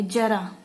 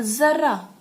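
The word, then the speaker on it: ज़रा: इससे शब्द का अर्थ बदल जाता है, जैसे जरा बुढ़ापा और जरा थोड़ा सा, ठीक है। उच्चारण करने से, सही से उच्चारण करके देखिए इसका, जरा, जरा बुढ़ापा और जरा थोड़ा सा।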